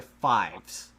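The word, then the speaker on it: Faiz: name is Kamen Rider Fives, 555, because that's the number he pushes to transform, but it's pronounced. That makes Fives.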